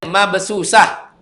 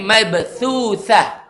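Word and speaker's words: مبثوثة: Jangan bacanya mabsusah. Tapi mabthuthah. Tha. Nah, dua-duanya tha ya.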